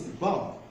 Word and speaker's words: bomb: Now the next one is bomb. Bomb. I know most people mispronounce this as bomb. Bomb. This is not pronounced as bomb, but it's pronounced bomb. The letter B is silent.